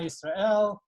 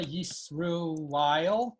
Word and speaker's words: Yisrael: Shema, so this is the way that sort of the standard Sephardi Israeli pronunciation that is common among American, non-Hasidic American Jews. Shema Yisrael, Adonai Eloheinu, Adonai Echad. So what was Lipa Schmeltzer singing? He was singing Shema Yisruel, Hashem Eloi Kaini, Hashem Ein Got Echad.